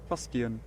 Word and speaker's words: fustian: Fustian.